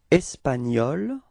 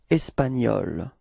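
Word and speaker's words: espagnol: is changing now uh in which the masculine form and The Feminine form can be written differently but then they are pronounced the same way okay so in this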